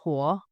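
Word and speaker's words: 火: Luck is pronounced xin, and fire is pronounced huo.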